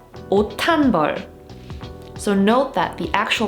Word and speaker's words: 옷한벌: And the pronounced consonant, which is 디귿, that's the sound that gets aspirated when we read this phrase. So you would read it 옷한벌, 옷한벌.